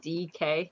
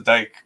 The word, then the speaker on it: Dike: You said DK, just the, like, the initials? Dyke. It's spelled like Dyke. I thought it was Dyke, but then they said his name, or he pronounces it DK.